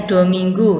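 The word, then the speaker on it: domingo: yang menyebutkan Hai dominggu tertulis dominggo bacanya dominggu yang kemudian dialihkan menjadi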